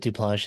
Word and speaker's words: Duplantier: Duplantier. Did I say that right? I feel Duplanche. He pronounced it Duplanche. It's a French name, so that's what I thought.